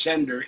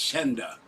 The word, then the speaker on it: Senda: My name is not Sender, it's Senda. Get the name right.